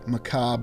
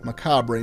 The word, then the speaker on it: macabre: chapel in a very Macab or Macabre manner, whether you're using American or British English.